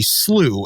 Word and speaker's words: slough: of the field uh where there was a slooh and I had to look this up because